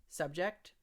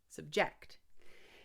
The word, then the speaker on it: subject: the phrasal verb but we change the stress it's subject to now you hear the different subject subject I'm going to stress the as a verb I'm going to stress the second syllable so when something is